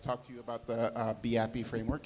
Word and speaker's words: BeAPI: to you about the VIP framework it's pronounced be happy like the Europeans do my name is